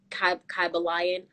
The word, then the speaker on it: Kybalion: think it's pronounced the kabalian i've heard other people say kaiba lion i think it's kabalyen but um it's a